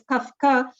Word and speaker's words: Kafka: And because in German you are pronouncing the way FF, it's Kafka.